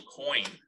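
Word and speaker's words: quoin: how you use something called a coin. It's not spelled like money. And now I'm testing myself. It's with a Q and an O and a U and an I and an N. Coin, did I spell that right?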